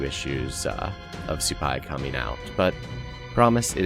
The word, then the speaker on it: Supay: Both T and I mispronounced my new character's name. We kept saying Supay. I found out later it is Supay.